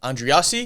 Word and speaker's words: Andreassi: Andreassi.